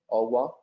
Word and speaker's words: au revoir: Au revoir is to see you soon, but the pronunciation is au revoir.